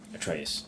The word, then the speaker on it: Atreus: I think that's how he pronounces his name, Atreus.